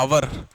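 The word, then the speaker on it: hour: Underline है यहाँ पर आर की, तो आवर का जो प्रोनाउंसिएशन है वो ऐसा होता है ना, आवर।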